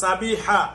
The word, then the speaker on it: সাবিহা: এখন আপনার আপনি বিয়ে করে দিছেন, এখন আপনার স্ত্রী, আপনি যেহেতু এর কাছে থাকেন দেখা সাবিয়া নাম বলছে, উচ্চারণ সুন্দর, হা হবে। ও সাবিহা।